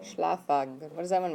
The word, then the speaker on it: Schlafwagen: Schlafwagen. Schlafwagen.